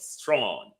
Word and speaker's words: Strachan: He called himself Strachan, but the pronunciation in British Scottish is Strachan.